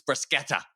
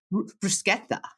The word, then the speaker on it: bruschetta: have a friend of mine she's like it's bruschetta I was like oh I got schooled I